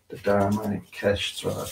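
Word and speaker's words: Dharmakshetra: But it said the seat of action is sort of like the body, or it's the Dharma Kestra, that's how you pronounce it.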